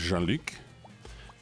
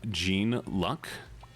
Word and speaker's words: Jean-Luc: Oh, my middle name is Jean-Luc, and people mispronounce it all my life as Gene Luck.